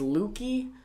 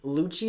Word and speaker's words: Lucci: Because I saw this AMV of Luffy versus Lucky. Or Lucci? Lucci, is that how you say his name? Yeah, it's Italian.